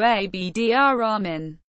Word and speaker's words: Abd al-Rahman: Because the letter R is a son letter, the letter L of the al is assimilated to it. Thus, although the name is written in Arabic with letters corresponding to Abd al-Rahman, the usual pronunciation corresponds to Abdirahman.